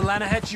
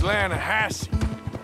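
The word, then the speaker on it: Lannahechee: the other day i rode down to the lana hetchy river i caught some beautiful steelhead trout you mean atlanta hassey river no no no no no the lana hatchy it runs right near here yeah but it's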